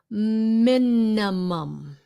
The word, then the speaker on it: minimum: Minimum. Không phải là minimum. Those are not E sounds. Minimum. The first I is pronounced with a short I.